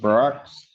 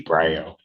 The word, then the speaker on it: Bro: Um, bro. It's pronounced bro.